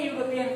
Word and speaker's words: European: তারপর দেখবে এখানে দেওয়া আছে দেখো ইউরোপিয়ান, দেখো এক্ষুনি আমরা শিখেছি ইউরোপিয়ান, a European country, the pronunciation is u.